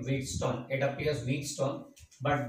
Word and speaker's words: Wheatstone: The complete name Wheatstone. It appears Wheatstone, but this T is silent. Remember well, this T is silent, so it's Wheatstone.